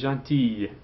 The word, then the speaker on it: gentille: Talk to a girl. Tu es gentille. Then you pronounce that.